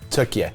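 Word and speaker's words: Türkiye: But then I remembered that Turkey's a really big place. Also, I think you'll find it's now pronounced Turkey.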